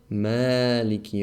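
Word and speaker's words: مَالِكِ: be malik manic so here this is pronounced ma long even though principle should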